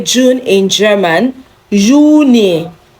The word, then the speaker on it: Juni: Juni. Remember, J is not pronounced J in German, okay? Juni, not Juni, okay?